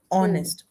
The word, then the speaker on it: honest: I think H is silent and the sound is honest. O sound.